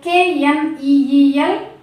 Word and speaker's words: kneel: Next KNEEL, kneel, not kneel. Not kneel, it's kneel. Okay, na? Should not pronounce letter K.